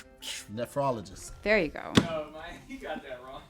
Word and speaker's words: nephrologist: Say it again. You added extra O in there. Nephrologist.